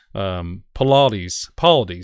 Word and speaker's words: Paulides: Paulides, that's how you say it.